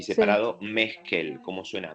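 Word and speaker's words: Meskell: Lynn, que se escribe Lynn, se escribe L-I-Y-N-N y Sí, separado Meskel. ¿Cómo suena? Meskel.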